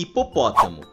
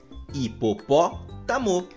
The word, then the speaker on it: hipopótamo: matemática árbitro clínico e hipopótamo percebam que nestas palavras nos pronunciamos a antepenúltima sílaba com mais intensidade pois nós falamos da seguinte maneira né dico gospel a matemática árbitro Clínico hipopótamo como todas essas palavras